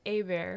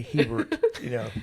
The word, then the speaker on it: Hebert: And then we also have Coleen Hebert. And I did I pronounce that correctly? It's all right. I'll let it slide. Okay. It's pronounced Hebert. Hebert.